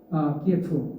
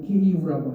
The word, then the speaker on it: 키이우: 여기에 대해서 이런 지역에 대해서 이제 크림반도나 돈바스 지역 러시아 교수님들이 대대적으로 반발하게 되고 그 반발에 대해서 우크라이나 키예프 지금 키이우라고 하죠. 러시아식 우크라이나식 발음으로 키이우 정부가 대대적으로 이제 탄압을 하게